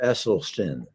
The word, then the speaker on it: Esselstyn: If I can make one correction, the name is Dr. Esselstyn. Oh, it's a speech impediment. So just pronounce it like it's spelled.